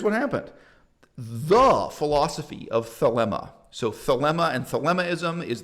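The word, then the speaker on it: Thelema: preferred pronunciation yes so thilima can also be found on the internet but yes uh but philema rhymes with dilemma anyway what he did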